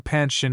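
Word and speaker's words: Panshin: She never pronounced his name Pansshin as was correct from holding forth.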